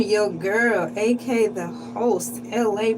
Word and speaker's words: Elay: I'm your girl, aka the host, LA, pronounced like LA, like the city.